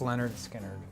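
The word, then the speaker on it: Lynyrd Skynyrd: Oh, pronounced Leonard Skinner.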